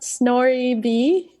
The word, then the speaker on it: snorib: it's a great question um so it's actually pronounced snor B and um snoring plus Tor equals snoring and